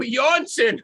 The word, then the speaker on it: Jonsson: your last name like oh johnson johnson okay down there i thought he was gonna pronounce it something like smith yeah okay michael